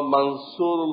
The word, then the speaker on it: মানসুর: দুটাই ঠিক, ওটা আরবি শব্দ এবং এর উচ্চারণ মানসুর, যিনি আল্লাহর পক্ষ থেকে সাহায্য প্রাপ্ত। তো বাংলা গ্রামার হিসেবে আকার দেওয়া হয়, দেখা যায় সামান্য টান আছে, মান এত টান নেই, এই আকারটা দেওয়া হয় না।